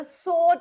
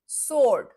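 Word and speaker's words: sword: व या डब्ल्यू की आवाज नहीं हम प्रोनाउंस करते हैं। It's called as अ स्वर्ड। ही हैज़ अ सोड इन हज़ हैंड। सोड जैसे डॉक्टर बोलते हैं ना डॉक्टर। डॉक्टर साड नहीं सोड सोर्ड सोर्ड सोर्ड ओके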